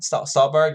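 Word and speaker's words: Stuhlbarg: Did I pronounce his name right? Stolberg, yeah.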